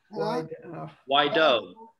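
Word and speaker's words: Guaidó: Guido. Am I pronouncing that right, Michael? Guido. Guaido.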